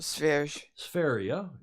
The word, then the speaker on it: Sverige: Well, Sverige. It's pronounced something like that in Swedish.